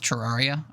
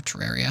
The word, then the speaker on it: Terraria: So there was a crossover with Terraria, or Terraria, however you prefer to pronounce it, where you could